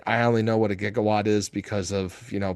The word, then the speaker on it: gigawatt: I I mean, I only know what a gigawatt is because of, you know, Back to the Future. Yeah. Yeah, they pronounce it jigawatt. Um but it is actually gigawatt.